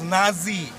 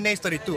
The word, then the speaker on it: Naze 32: Some people pronounce it as Nazi. I don't want to bring history back, you know. Let's call it Naze 32, okay.